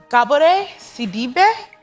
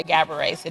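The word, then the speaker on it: Gabourey Sidibe: Is it Gabbori or is it Gabri? So I'm Sagalles and so my name is pronounced Gabore Cibbe. But you're American, so I'll let you say Gabriet C.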